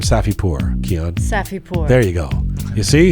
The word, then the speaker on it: Safipour: Hey, a big thank you to Hamid Reza Safipour for helping to make this episode of Roqe get to your ears and eyes. Hamid Safipour, Luxury Custom Homes. Say the name Safipour, Keon. Safipour.